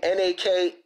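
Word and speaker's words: Nakano Takeko: And that's, you say her name, N-A-K-A-N-O-T-A-K-E-K-O.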